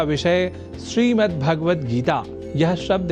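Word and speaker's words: श्रीमद्भगवद्गीता: यह शब्द ही है, जैसा कि मैंने उच्चारण किया, श्रीमद् भगवद गीता, जिसे अनवधानतावश हम श्रीमद् भगवद गीता या श्रीमद् भागवत गीता या भागवत गीता कर जाते हैं, जो सर्वथा अशुद्ध है।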